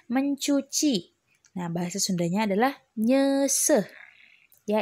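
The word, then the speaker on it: nyeuseuh: nah bahasa Sundanya adalah Nyesel ya ingat kalau ada edan u dibacanya jadi kayak orang sendawa yah berarti nyesel kemudian yang selanjutnya yang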